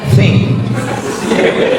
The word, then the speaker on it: think: T sama H itu bacanya think.